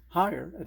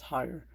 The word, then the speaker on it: Haier: nor called the um higher and i found out that's how you pronounce it is higher i called their toll-free